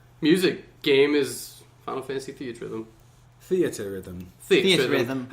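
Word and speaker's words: Theatrhythm: Theater Rhythm theater Rhythm how do you all say that Rhythm but my husband says theater rhythm theater rhythm theater phonetically or just reading it it is Theta Rhythm well I think they were intended for it to be theater so also we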